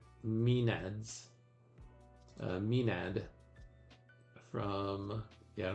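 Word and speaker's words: maenads: Oh, here's how you say mined minads.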